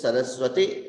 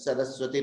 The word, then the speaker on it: Saraswati: Saraswati Namastubhyam Varade Kamarupini Vidyarambham Karishyami Siddhir Bhavatu Me Sada. That is the correct pronunciation. If it is Dirgha, it is wrong.